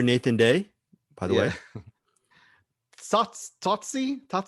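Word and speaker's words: Tsotsi: Totsi? How do you say Totsi? It's Totsi. It's Totsi.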